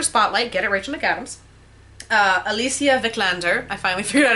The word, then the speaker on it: Alicia Vikander: Alicia Vikander, I finally figured out how to say her name, for The Danish Girl, and Kate Winslet for Steve Jobs.